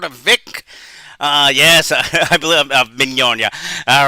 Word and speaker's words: Mignogna: Yes, I believe Mignogna. All right, oh boy, it's fun to say it. It's like Vic Lasagna, that would be easier to know, but it's Mignogna. The suit is also claiming